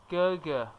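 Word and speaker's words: 哥哥: Gēgē. Yes, which is the flat tone.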